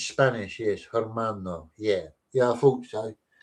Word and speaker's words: hermano: Hermano.